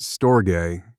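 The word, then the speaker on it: storge: S T O R G E pronounced stoay is one you can probably identify with.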